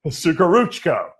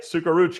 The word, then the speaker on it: Suhoruchko: Suhoruchko. Am I right? Yeah, sure. Exactly. Did I say it right? Suhoruchko.